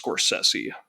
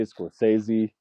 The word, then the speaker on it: Scorsese: And have you heard his because I'm I'm pretty sure I heard in an interview that his name's pronounced Scorsesi. Scorsesi. Yeah. I know. We always say Scorsesei.